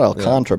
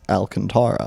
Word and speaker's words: Alcantara: teams Sandy Alcantara and it's not alcantra by the way I found I pronouncing alcantra it turns out Sandy is Alcantara wow weird Kevin Kevin